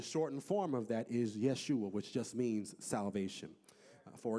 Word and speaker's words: Yeshua: In the Hebrew, the term is Yeshua, which is a shortened form of the word Yehoshua, which is really what you see as Joshua in the Old Testament.